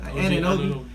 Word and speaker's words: Anunoby: Anunoby.